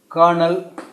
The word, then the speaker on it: Colonel: is introduced bahir and curl colonel and when we produce pronounce this it is Colonel Colonel Scott was a